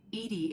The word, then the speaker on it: EDI: are you named edie edie is the phonetic pronunciation of edi that is an acronym for enhanced defense intelligence how are you getting